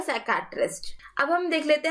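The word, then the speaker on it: psychiatrist: यहाँ पे P silent है तो ये हो जाएगा साइकियाट्रिस्ट।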